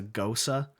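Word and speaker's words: Gose: berliner vice another is a gosa and i had to learn how to pronounce that at the beer festival this last year it's spelled g-o-s-e okay so i was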